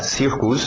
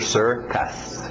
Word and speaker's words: circus: Embora parecido, não tem muito a ver em termos da pronúncia. Então, cuidado para não falar circus. É sir, aquele velho som de water, sister, circus.